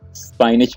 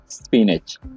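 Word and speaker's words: spinach: अक्सर लोग इसको स्पाइनच पढ़ते हैं, तो ये गलत प्रोनाउंसिएशन है। इसे हम पढ़ेंगे स्पिनच।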